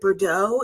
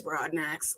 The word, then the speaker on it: Broadnax: It's just pronounced the way it's spelled. I'm gonna add a couple letters of mine to help y'all out. Yeah, we from the South. We just keep it simple. It's Broadnax.